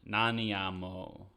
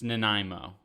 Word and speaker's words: Nanaimo: we're in Canada and you can try pronouncing that Nana naniamo it's Nanaimo that's how you pronounce that and I think it's